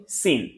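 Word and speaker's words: س: অথবা আসছি সিন।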